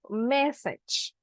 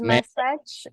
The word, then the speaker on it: message: Okay, just William Jose, the pronunciation of message. Message. Because massage, yeah, it's like massage, like when you are stressed and you need a massage. So I listened to that and I was like, okay, what is message? Message.